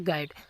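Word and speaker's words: guide: आगे है गाइड। अब गाइड में जी आई डी ई से गाइड बनता है। लेकिन यहां पे यू भी लिखा हुआ है तो वो साइलेंट है।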